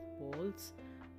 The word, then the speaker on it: bowls: और ये सारे हैं टाइप्स ऑफ बॉल्स। ये बॉल्स कहलाया जाता है, बाउल नहीं कहलाया जाता है। Exact pronunciation is बॉल्स, BOWLS, बॉल्स, मतलब कि types of different types of बोल्स या फिर कटोरा।